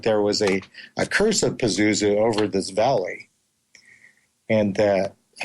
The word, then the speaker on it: Pazuzu: Ken said it was Pazuzu. Pazuzu, is that how you say it? Pazuzu, yes.